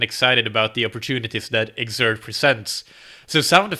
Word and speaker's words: Xert: the name of their product which is exert which is spelled X RT so you skip the e in the word exert the way that it's commonly spelt and it's a training